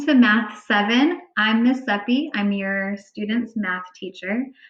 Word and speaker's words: Sepe: hi welcome to math seven i'm miss sepi i'm your student's math teacher um i put a pronunciation guide here for folks who weren't quite sure how to pronounce my name it's sepi uh we're gonna be talking today a little